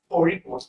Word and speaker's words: Kozhikode: So it is pronounced Korikot, where probably you have to take a ra sound by twisting your tongue and touching it up on the upper side of the chin.